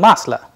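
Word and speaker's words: масло: In Masla also the same rule applies.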